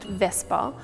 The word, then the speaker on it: VSEPR: VSEPR, often pronounced VSEPR, stands for valence shell electron pair repulsion theory.